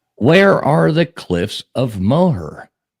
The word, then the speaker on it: Moher: Yeah, Moher, mower down.